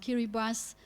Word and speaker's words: Kiribati: of of the capital of Kiribati pronounced Keira bass North Tarawa which is